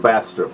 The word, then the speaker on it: Bastrop: Did I say it right? Bastrop, yeah. Bastrop? Depends on where you're from, yeah.